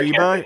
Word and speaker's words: Beersheba: yeah, but I mean, I just looking at that, it looks like it says beer Sheba, right? Mm. Yes, but that is how it's pronounced. It's pronounced Beersheba.